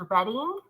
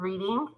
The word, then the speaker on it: Reading: that yeah close to London it's actually it's pronounced reading instead of reading but I was a librarian for so long but I just say reading now um but yeah reading and um so we went to London all